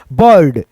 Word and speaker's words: bird: जैसे यहाँ पे ब, उसके बाद से यहाँ पे ड लिख करके यहाँ पे रेफ की मात्रा ऐसे आ जाएगा, बर्ड, है ना।